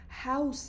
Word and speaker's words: house: سؤال جواب ازتون میکنم تلفظ این کلمه در حالت سینگولر حواسمون باشه که هاوس هستش هستش هستش اما در حالت پلورال هازز زز الان تیم گزارشگر با